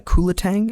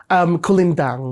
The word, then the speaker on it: kulintang: Because I've heard you use instruments like a kubing and a kulatang in your music. Am I pronouncing those right? Kulintang. Kulintang. Okay.